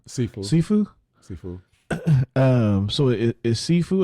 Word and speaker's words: Sifu: Is that how you pronounce that name? Sifu. So it is Sifu.